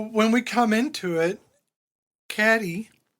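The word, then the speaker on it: Cady: So when we come into it, Caddy or Katie if you want to say her name like you're nasty.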